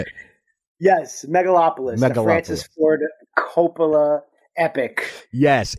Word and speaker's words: Megalopolis: out is that how you say it yes megalopolis Francis Ford Copa epic yes it debuted at